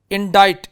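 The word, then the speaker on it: indict: इंडाइट, इसमें सी साइलेंट है, और ये वर्ड चिप्स में हमने देखा था इंडाइटमेंट, ठीक है।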